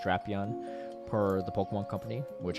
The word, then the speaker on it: Drapion: Shadow Drapion is unfortunately the correct pronunciation, not Drapion. It's officially pronounced Drapion per the Pokemon Company, which I hate too, but it is what it is.